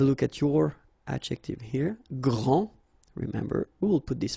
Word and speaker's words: grand: that this first form here for the masculine gr so you don't pronounce the final day will be exactly the